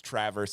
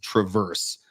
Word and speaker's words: Traverse: so I mean like it's TR it's Traverse but people probably call it Travers right correct so the car is Traverse but it's Traverse City so you got that